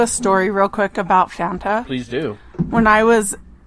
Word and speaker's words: Fanta: 18 years old and I called it Fonte and I still did you know when I hear them know when I hear the words Banta it sounds like they're saying it wrong and I get made fun of all the time and I'd have to remember to say Fanta and not fantasist and